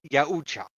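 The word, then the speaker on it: Yautja: Yeah, it's pronounced Yucha. At least at least at least I think that's how it's pronounced.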